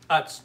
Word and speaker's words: Utz: How do you say that, oots? Uts, like putts.